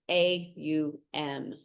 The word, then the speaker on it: Om: In Sanskrit, the sound O is a diphthong, a subtle sound that begins with one vowel and changes to another vowel within the same syllable. Thus, O sound begins with ah, as in law, and ends with the U sound as in put. Oh, it is why it is often written as A-U-M.